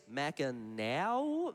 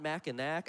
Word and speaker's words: Mackinac: Here's $50 from Sky that said it is Mackinaw, not Mackinac.